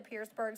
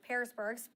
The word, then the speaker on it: Parisburg: as we reported the pierceberg staple went up in flames back in February excuse me parisburg pronounced that wrong the owners that say